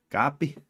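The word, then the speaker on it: Kape: you say his name it's k a p e copy Manuel copy yeah yeah my St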